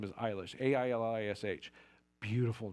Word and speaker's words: Eilish: But everybody is always, up until recently, but everybody's always, is it Ailish? Because it's Eilish, the A is silent, it's Gaelic.